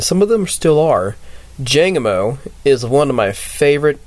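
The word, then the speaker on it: Jangmo-o: Jangamo is one of my favorite dragon types. Even though it's technically pronounced like, I think it's like Jangamoo, Tanamoo, and I cannot tell you the tossed one's name off the bat.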